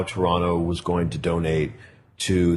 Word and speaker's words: Toronto: of this city well they don't pronounce the second t so it's toronto toronto okay not toronto not